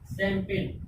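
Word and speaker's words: champagne: शैंपेन। देखिए जी का उच्चारण नहीं किया है, शैंपेन।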